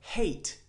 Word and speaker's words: hate: So for example, hate. You don't say the E, you don't say hate, right? You say hate. So you make the A sound, it's very long.